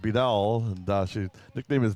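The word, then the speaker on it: Beadell: very smart last time b-e-a-d-e-l-l I assume it's pronounced bidal and uh she nickname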